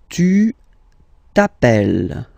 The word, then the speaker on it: tu t'appelles: All right, second form, tu t'appelles. Okay, remember, final S not pronounced, tu t'appelle.